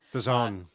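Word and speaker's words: DAZN: in i think it's on days in d-a-d-a-z-n the zone yeah the zone is that how you say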